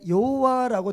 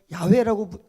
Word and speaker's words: 야훼: 여러분들이 여호와라고 번역되어 있는 성경은 예전에 이 하나님의 이름을 감히 인간이 어떻게 그냥 부르겠는가라고 해서 이 야훼라는 글자에 아도나이라는 이 모음을 집어넣어서 여호와라고 이렇게 기록을 했어요.